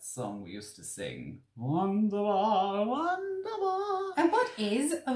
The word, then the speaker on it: wunderbar: when I first realised that Germans pronounce their W's as V's.